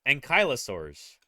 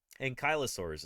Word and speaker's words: Ankylosaurs: Ankylosaurs is how you pronounce it. Probably because, like, Ankleo, it's like, it implies that the L is before the Y, and it's not. The Y is before the L.